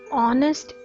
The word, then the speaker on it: honest: is G the silent letter in honest is H the silent letter in